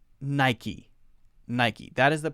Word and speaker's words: Nike: most common Chevy Chevy Chevy next one Nike Nike Nike Nike now a lot of people mispronounce this one as naik because we say I learned the rule is